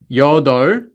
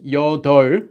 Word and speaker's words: 여덟: So the number for 1 to 10, 하나, 둘, 셋, 넷, 다섯, 여섯, 일곱, 여덟. This one's 여덟, not 여덟. Although the 비읍 is there, they don't pronounce the 비읍.